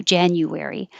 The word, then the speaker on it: January: that's the same thing we do with january we make the you more of a ya it gets shorter you can say you january february but it's more